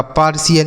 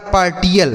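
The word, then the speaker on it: partial: क्या बताया सी एल तो यह लिखा है आपका पार्शियल ये देखिए सही उच्चारण है इसका पार्शियल क्या पढ़ेंगे पार्शियल कोई नया बच्चा होता है ना तो इसे पढ़ता है पार्टियल क्या पढ़ता है पार्टियल लेकिन इसे पार्टियल नहीं पढ़ेंगे पार्शियल समझ में आया कि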